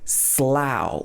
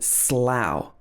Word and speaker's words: Slough: a place in the uk near reading called slough which is also spelled o-u-g-h i used to go to school in slough that's not true i didn't actually but uh